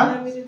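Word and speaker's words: tsunami: simple rule তোমার পরে যদি টি আছি তাহা সুনামিরে চেঞ্জ হ সুনামিরে চেঞ্জ হয়ে যাইবো সাইলেন্ট হয়ে যাইবো সেদিরে তুমি টি এস লিখিবো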